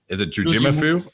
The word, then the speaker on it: Jujimufu: name properly by now, but apparently is it Jujimufu?